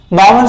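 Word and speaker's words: Balmer: अच्छा बामर सीरीज के लिए अपने को, बामर सीरीज L साइलेंट होता है बच्चों, ये बामर सीरीज के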